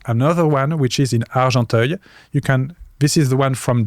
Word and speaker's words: Argenteuil: Maybe you can try to find the one from Argenteuil. How do you spell that?